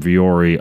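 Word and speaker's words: Vuori: It's Viori clothing. You spell it V-U-O-R-I.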